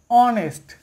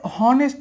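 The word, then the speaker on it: honest: অনেস্ট বলি, তার মানে এইচের উচ্চারণটা সাইলেন্ট হয়ে যাচ্ছে, ও থেকে উচ্চারণ হচ্ছে।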